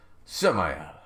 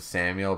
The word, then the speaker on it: Samael: Samael. How many times do I have to tell you? I mean, you could pronounce it Samuel, but it's Samael.